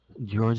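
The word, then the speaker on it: Georges: George St. Pierre as George Batroc. Yeah. I forget the S confuses me. You don't pronounce the S.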